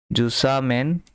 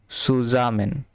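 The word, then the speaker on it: zusammen: সাথে last last wins জুসামেন গেহেন last উনস last উনস জুসামেন আচ্ছা এখানে জুসামেন হবে না এটা হবে যে সুসামেন। ঠিক আছে? সুজামেন। কারণ জেড এর উচ্চারণ হবে ছ এর মত।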